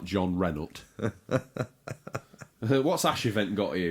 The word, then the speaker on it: Jean Reno: Jean Reno, the man named after a car. Or if you were pronouncing him properly, it was something like John Renault.